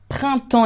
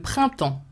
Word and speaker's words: printemps: Hiver, printemps is a bit difficult because you have the double nasal sound and the PS at the end that you do not pronounce.